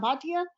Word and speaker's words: Bhatia: in an embarrassing situation my last name is always mispronounced it's bhatia so i think that's